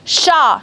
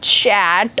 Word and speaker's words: chat: in some certain words, the end consonant or the end alphabet in a single word is not supposed to be pronounced. Okay, that's why sha, not chat or chat.